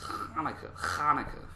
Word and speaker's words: Chanukah: It's just spelled with a C. It's Hanukkah.